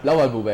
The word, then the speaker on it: Blauwalbube: So here's the pronunciation for you guys, and you are ready? Huh? Yeah. Blauwalbube, yeah?